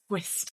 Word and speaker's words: Whist: I know, I love I always want to be like, Whist. Because it is spelled W-H-I-S-T, for anyone who doesn't know. So if you weren't catching that drift. Yes, that's why we need to over pronounce the sounds.